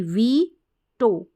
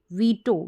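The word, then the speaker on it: veto: है तो वी ई वी टो वीटो वीटू नहीं वीटो वीटो ओ यहां पर ईगो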